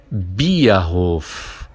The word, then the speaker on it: Bierhof: vários lugares até de restaurantes, cervejarias, que é Bierhof.